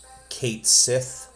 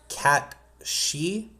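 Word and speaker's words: Cait Sith: It's typically everyone just says Kate Cy in this. This is a name of a character in Irish folklore. It is pronounced cat she just come to know the character is Kate Sith.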